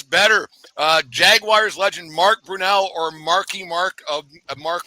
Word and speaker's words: Brunell: recall I know exactly it's pronounced it's Brunel that's not a hard